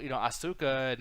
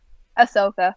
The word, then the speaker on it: Ahsoka: And I'm like, everything you're saying about, Asuka, and I think I said her name right, but everybody from the Clone Wars. Wait, I didn't say it right? Ahsoka. But you almost got it, though.